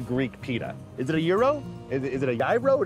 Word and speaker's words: gyro: I mean, but is it a gyro?